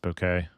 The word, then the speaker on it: bokeh: Bokeh. This is what most it's actually pronounced bouquet according to Japanese people.